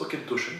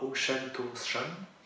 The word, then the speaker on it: Auchentoshan: Donc Aukentoschen. Alors oui, il se prononce Aukentoschen parce que c'est du Gaélicien, et non pas Aukentoschen, comme beaucoup de gens s'amusent à le dire.